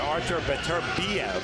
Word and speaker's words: Artur Beterbiev: A fighter to watch out for is the #7 fighter, Artur Beterbiev.